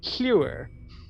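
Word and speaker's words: Llewyrr: If I don't do it every time, you'll understand, because it's pronounced Hewer. The Hewer elves, in Gaelic, in Welsh, the two L's make like an HL sound.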